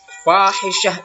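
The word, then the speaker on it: فَاحِشَةً: Fahisyah itu artinya perbuatan keji. Jadi fahisyatan karena kita berhenti dibaca fahisyah. Ya.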